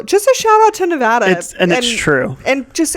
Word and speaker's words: Nevada: a shout out to Nevada and that's true and just everyone please it's Nevada Nevada it's very serious and if you say